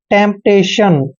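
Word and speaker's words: temptation: और देखिए TION का उच्चारण शन करते हैं, मतलब टेम्पटेशन।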